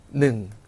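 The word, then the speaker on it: หนึ่ง: 자, 이어서 숫자 1은 우리가 어떻게 발음을 했었죠? 그렇죠. 바로 능, 능 하고 발음했죠.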